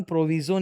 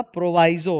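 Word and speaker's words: proviso: इसका उच्चारण प्रोविजो नहीं होता, प्रोवाइजो होता है, प्रोवाइडेड प्रोवाइजो, ठीक है।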